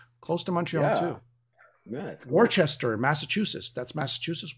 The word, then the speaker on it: Worcester: Yeah, Worcester, Massachusetts. That's Massachusetts, Worcester.